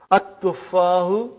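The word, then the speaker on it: التفاح: But now your mind knows that that is a sun letter. So you will pronounce as at-tuffahu. You will put a shadda anta. At-tuffahu.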